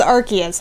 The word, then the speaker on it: Arceus: to play pokemon legends arceus there we go pokemon legends arceus arc as in an arc that's how it's pronounced um what's up y'all